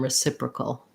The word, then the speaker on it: reciprocal: at the end there, we have just a cul with a syllabic L. So thinking about that kind of like cull, you keep the back of the tongue down. Cull. Go as quickly as you can from the K to the L, keeping the back of the tongue down with a little bit of a schwa sound in there.